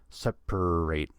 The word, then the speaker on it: separate: per per per separate don't get confused by the spelling of the word there's an A and the way the word is spelled there's an a between the p and the r but we don't say an a there we just say per separate separate and that